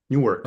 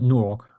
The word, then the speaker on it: Newark: Aber Wie spricht man das aus? Newark. Newark.